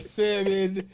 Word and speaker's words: salmon: broccoli and the salmon and the asparagus there's a lot of people that's gonna stop listening to our pot if y'all keep pronouncing salmon with a l i said salmon salmon